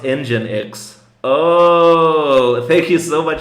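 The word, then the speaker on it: nginx: uh pronounced Oh, it's pronounced engine X.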